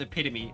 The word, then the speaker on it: epitome: I'm here this is the epitome of relaxation epitome so I don't like the word epitome mostly cuz it's it's spelled but it's pronounced epitomy I don't I hate it I hate it